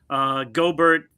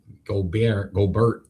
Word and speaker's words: Gobert: Gobert, 13 to 15 rebounds. Gobert? Gobert. You sound to pronounce names like me? Good. All right. I like that. That's what I call him. Gobert. Like Hubert.